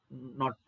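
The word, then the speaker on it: knot: 1852 kilometre per hour ಉಚ್ಚಾರಣೆ ನಾಟ್ ಅಂತ ಹೇಳಬೇಕು ಇದನ್ನ ಸೋ ಈ ರೀತಿ ಪವನ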